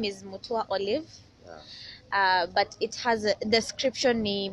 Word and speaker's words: Ollyve: Yes, and it's Mutua Ollyve, My name is not Mutua Ollyve, it's Ollyve. That is how it's pronounced.